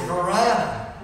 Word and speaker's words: Varina: It's Varina. But it rhymes with piranha.